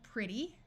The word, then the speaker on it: pretty: to completely disappear people this e will have a short I sound pretty EA will have its